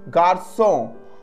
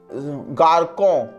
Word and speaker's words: garçon: But put on this accent with C with the cedilla, always gives a sound. For example, garçon, garçon, it means boy, and C after O, that is not a pronunciation of garcon, because C put on